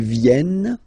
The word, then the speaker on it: viennent: Ils viennent, elles viennent. Ils viennent, elles viennent. All right? E-N-T, you don't pronounce them.